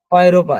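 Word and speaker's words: Europa: অয়রোপা, এই যে আমরা বলি ইউরোপ কিন্তু অয়রোপা।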